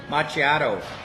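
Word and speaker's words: macchiato: I may have to play the recording again machiato um and Ronda says good evening Dave and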